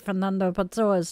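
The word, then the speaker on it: Fernando Pessoa: And no, I am not missing the irony in the fact that I cannot pronounce Peter Matusen's last name correctly, but I do get Fernando Pzoa's name correct.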